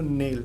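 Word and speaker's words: knell: नेल। अब इसमें के साइलेंट होता है। केनेल मत पड़ने लगना।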